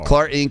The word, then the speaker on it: Klar Inc.: So Chadwick is the founder and owner of Klarink. I think is how you say that. Klarink. Klar. Oh, Klar Inc. Yes, Klar. No, Klar Inc. with a K.